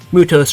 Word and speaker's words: Mythos: It is actually supposed to be Mutos Reploid. They just spell it kind of weird, like they spell it phonetically as opposed to how you would spell it in ancient Greek, which is like here,